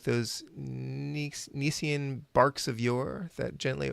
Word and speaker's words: Nicean: And To Helen was one of the poems that I read, and I had to look up how to pronounce Nicean. Nicean.